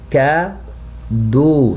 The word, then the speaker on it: cadeaux: Attention, here you have 3 letters. We must pronounce only one sound to be O. Acheter des cadeaux. So of that I pronounce O, but I don't pronounce the letter X.